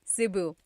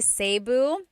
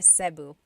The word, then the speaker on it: Cebu: So, technically in the Tagalog alphabet, the letter E can be pronounced E or E like the letter I. So, I say Cu. Cebu. And I know some people say Sabu, but usually it's either Cebu or Sebu.